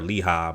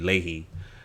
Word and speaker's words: Leahy: But I was calling her Leha, but it's actually Leahy.